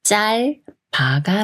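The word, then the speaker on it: 짧아: 써가 돼요 없써 없써이 말은 자라가 맞을까요 아니면 짤 바가 맞을까요 겹받침 리을 비읍 중에서 이응과 가까운 읍이 올라가서 두 번째 글자는 바라고 읽고 첫 글자는 자의 리을 받침 소리인 의를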